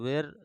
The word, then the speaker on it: were: इसका क्या होता है, इसको वर यूज किया जाता है, WERE ऐसे होता है, तो वेर समांतर लोग पढ़ते हैं, लेकिन इसको शुद्ध उच्चारण में पढ़ा जाता है वर।